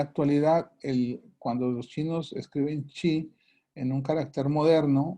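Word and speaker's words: 气: en la medicina china, en la cultura de China, en la cultura oriental, se conoce como chi. Se escribe, en chino se escribe kui, se pronuncia chi, en japonés se pronuncia ki.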